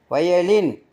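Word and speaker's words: violin: ர் ஆர் ஜூனியர்னா இளையவர் வயலின் அந்த நடுவுல வர்ற ஓவுக்கு யா சவுண்டு யா உச்சரிப்பு இசைக்கருவி தியரி தியரி அந்த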